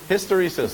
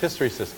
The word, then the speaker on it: hysteresis: I've seen it what history says someone pronounced it wrong but you're all right it's hysteresis and all that really